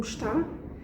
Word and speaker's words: está: And in case you didn't notice, in this case I did pronounce the beginning of the verb estar. I said como está because I'm being more formal, so that requires my Portuguese to be a bit better.